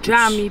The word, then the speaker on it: cami: Czyli dżami po turecku pisze się cami.